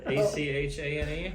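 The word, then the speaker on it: Achane: So I'm going to go with a chain. A-Chan? A-Chan? A-C-H-A-N-E? Yes, A-Chan.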